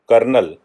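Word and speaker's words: colonel: रहे होंगे कि कि कर्नल जो बोला कर्नल जाता है स्पेलिंग है CO annual day of judgement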